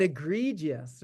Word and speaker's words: egregious: that eye in there that's a lot of syllables it is it is but egregious right it's egregious it's like h you know